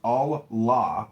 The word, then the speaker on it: Allah: The God in Arabic will be Allah, pronounced Allah, or Allah, which is simply God with a capital G.